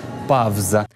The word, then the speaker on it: павза: Новий правопис пропонує і писати, і вимовляти так, як це було до 1928 року. Фавна, а не фауна, наприклад, так? Або, наприклад, лавреат, павза.